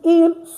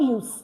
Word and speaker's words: ils: The S is not pronounced at the end. So it's not ils, it's not else. No, it's il and L.